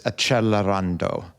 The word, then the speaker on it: Accelerando: And as some of my readers like to remind me, the more proper pronunciation is Accelerando.